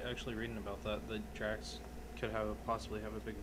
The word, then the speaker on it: Drax: Yeah, Drax.